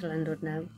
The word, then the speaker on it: Llandudno: So we're looking forward to our little breakaway at the end of October, to Llanwrd now. Llandudno, as the Welsh pronounce it.